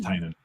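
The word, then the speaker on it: Tynion: He named his company Tiny Onion specifically to help people pronounce his name. Like that's the whole point of the company. Is that right? Yeah. James Tinan.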